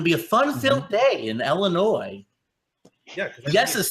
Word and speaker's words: Illinois: It's going to be a fun-filled day in Illinois. Yeah. Yes is silent. It's not Illinois.